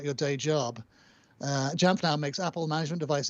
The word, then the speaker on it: Jamf: He's spelling it out for you phonetically. He's like, that's like sounding it out phonetically. Like it's jaw.